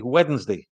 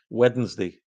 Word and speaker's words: Wednesday: If you listen to me say it, I say Wednesday. So you can hear that I do say that. It's a difficult one to make, but Wednesday.